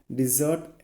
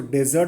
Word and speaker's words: desert: क्या है डिजर्ट animal. इसको डेजर्ट नहीं पढ़ते हैं. डेजर्ट तो मिठाई हो जाता है. ठीक है. इसका करेक्ट प्रोनाउंसिएशन क्या है? डिजर्ट.